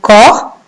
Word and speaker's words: corps: Et son corps, regardez l'écriture du mot corps. Vous avez vu la lettre muette, je la vois, mais je ne l'entends pas.